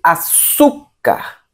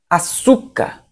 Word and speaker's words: açúcar: Se fosse, ao invés de café, fosse açúcar. Açúcar seria paroxítona. Ok? Então, lembrando, café, oxítona, açúcar, paroxítona, porque o su é a sílaba mais forte.